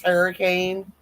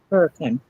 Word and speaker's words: Hurricane: Hurricane, but it's her like in hurry.